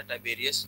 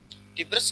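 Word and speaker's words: Tiberius: इस टाइम पे जब हज़रत ईसा अलैहिस्सलाम को सूली पे लटकाया गया, रोमन किंग था टाइबेरियस, तो पोनिटस was governor at that time. टिब्रस कह लें आप, टाइबेरियस कह लें, इसलिए मैं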